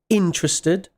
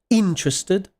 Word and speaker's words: interested: notice that the stress notice the stress interested it's on the first syllable interested not interested okay that's